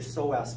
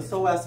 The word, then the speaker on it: psoas: All right, so the psoas muscle, the P is silent. So the psoas muscle is related to the bending.